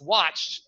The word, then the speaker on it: watched: pronunciation is really difficult watch becomes watch it you know people say watch it but it's not watch it it's watched right watched so how we're going